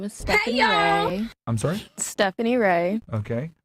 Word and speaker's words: Rae: Stephanie Ray? That sounds like a white name. It is a white name. What, Reyes? No, Ray.